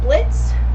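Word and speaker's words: Blitzø: It's got Blitz, the O is silent, and Stolas.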